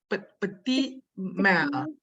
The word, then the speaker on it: petit mal: Okay, again the pronunciation is actually petit mal.